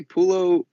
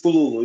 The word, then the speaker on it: Pululu: Hey, Pululo, how's it going, man? Hi, how are you? It's Pululu. Yes, you say I'm doing good. you pronounce right, Pululu.